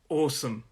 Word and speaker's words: awesome: It's a 2-syllable word, and the stress is on that first syllable.